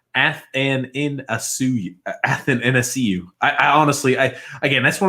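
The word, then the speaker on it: Athanasiou: TJ, it's pronounced Athanasiu.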